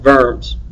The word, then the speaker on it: Worms: so I spelled worms and to my knowledge pronounced verms I guess depending on who you talk to uh in the end